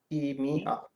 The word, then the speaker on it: EMEA: say it like this, me. EMEA. Okay.